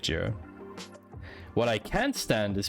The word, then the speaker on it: Jira: I prefer Jira over Trello for dev.